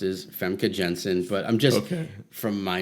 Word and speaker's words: Famke Janssen: The way I've usually heard it pronounced is Famke Janssen, but I'm just from my knowledge of that part of the world. Yeah. Usually, it's a soft J.